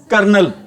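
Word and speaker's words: colonel: मेरी बात ये किसकी स्पेलिंग है अभी किसकी स्पेलिंग है ये क्या बोलेंगे इसको कर्नल क्या बोलेंगे इसको भी कर्नल बोलेंगे चलो भाई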